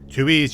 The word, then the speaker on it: Tui: have been absolutely hilarious okay so let's read tui's bio card Tui it's pronounced Tui is a self claim trash Roden